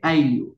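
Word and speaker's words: ayllu: Familia se dice Ailu en quichua. ¿Listo? Ailu. Se escribe Ailu y se pronuncia Ailu.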